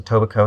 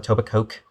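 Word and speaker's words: Etobicoke: York North York um toico K and that isn't pronounced by the way it's a toico not a toic Coke don't don't be weird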